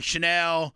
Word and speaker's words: Chanel: You know, Chanel.